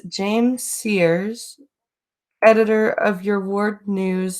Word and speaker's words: Sears: Sayers, yeah, it's pronouncing it Sayers, but it's Sears.